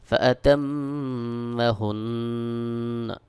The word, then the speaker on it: فأتمهن: যদি আমি এখানে ওয়াকফ করি তাহলে উচ্চারণ হবে ফাতাম্মাহুন। কফ আলিফ জবর ক, লাম জবর লা, ক্বালা, আমজা নুন জের ইন, নুন ইয়া জের নি, ইন্নি।